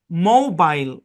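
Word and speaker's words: mobile: হ্যাঁ, এই শব্দটা উচ্চারণ করে ব্রিটিশরা মোবাইল, মোবাইল।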